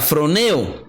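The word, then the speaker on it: φρονέω: palabra griega 54-26 que se pronuncia from eo disculpe que no se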